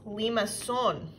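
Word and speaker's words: limaçon: same and that's cardioid this next graph is pronounced Leamas son I know fancy right now there are three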